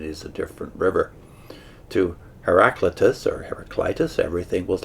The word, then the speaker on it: Heraclitus: That's spelled Heraclitus. I suppose an alternate pronunciation would be Heraclitus.